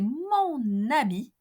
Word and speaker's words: habit: C'est mon habit. Mon habit. Habit is a masculine singular noun beginning with a H muet.